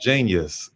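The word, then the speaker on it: jeen-yuhs: So JEEN hyphen YUHS. So it's spelled like it would be in the dictionary, you know.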